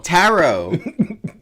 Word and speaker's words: Tarot: you don't it's tarot tarot everyone knows the second tea is silent I want to I